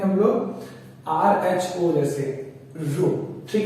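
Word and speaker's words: ρ: Resistivity मतलब रो, pronounce करते हैं हम लोग RHO जैसे रो, ठीक है?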